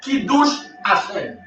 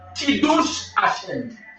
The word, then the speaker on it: Kiddush Hashem: Kiddush Hashem, il écrit K-I D-D-O-U-S-H, Kiddush. Kiddush, K-I-D-O-U-S-H, H-M. H-M qui s'écrit H-A-S-H-E-N. H-A-S-H-E-N, Kiddush H-M.